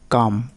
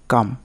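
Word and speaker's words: calm: Rule number দুই এল plus M পরপর থাকলে পরে ভায়েল না থাকলে এল অনুচ্চারিত থাকে। যেমন কাম মানে শান্ত। কে এল এম কাম। এখানে এল এর উচ্চারণ কিন্তু হচ্ছে না।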